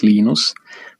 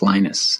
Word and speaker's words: Linus: i speak finnish it's linos when i speak english it's linus and i really don't